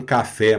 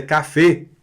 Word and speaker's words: café: Você não vai pedir um café mais aqui na França. Aqui na França, aí pode ser. Aqui na França é café. Café.